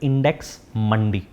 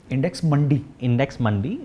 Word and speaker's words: Index Mundi: For example, there is a website called Index Mandi. Index Mandi, it's spelled as INDEX MUNDI, जहाँ पे commodities होती